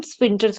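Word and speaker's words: sphincter: इसमें ना स्प्रिंटल्स में एच गायब है तो स्प्रिंटल बोलना है उसको। ठीक है? तो पता नहीं क्यों एच क्यों लगाते हैं जब साइलेंट है तो आई डोंट नो।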